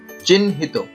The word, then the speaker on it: চিহ্নিত: চিহ্নিত, চিহ্নিত, এখানে হয়ের সঙ্গে নফলা যুক্ত হয়েছে, এখানে হ এবং ন দুটি উচ্চারণ, উচ্চারণ হচ্ছে চিহ্নিত।